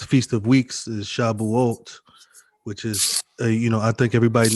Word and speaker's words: Shavuot: Shavuot is actually pronounced Shabuot, Right.